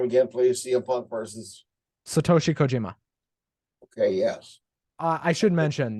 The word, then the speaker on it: Satoshi Kojima: Pronounce his name again, please. CM Punk versus. Satoshi Kojima.